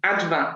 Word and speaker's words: Advá: Como é que seria a pronúncia? Adva.